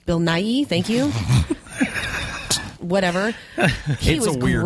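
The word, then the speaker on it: Bill Nighy: of the Caribbean um I forget how you pronounce his name Bill n Bill NY Bill n Bill Nai thank you whatever he weird name Stanley he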